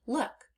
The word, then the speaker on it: look: The L and the K are making expected sounds. But those two O's together are making uh uh and we have not learned that rule yet.